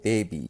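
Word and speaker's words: beibi: The next plant is called Gardenia Campulata, known by the common name baby, spelled B-E-I-B-I, but pronounced the same as baby, I guess.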